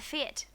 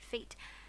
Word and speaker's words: fete: Now, if we're fixed and ready to begin, the fete, well, Katy pronounced it feat, can commence.